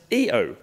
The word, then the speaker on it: Io: It's the Mitsubishi Pajero Io, which I actually learnt today is pronounced EO.